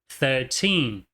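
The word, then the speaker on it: thirteen: Você tá vendo ali que existem dois sinais de stress, dois sinais de sílaba tônica. Tanto th quanto te são tônicos. Então nós falamos 13.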